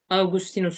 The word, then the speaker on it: Augustinus: Son olarak Augustinus, Augustinus şeklinde de okunur bu.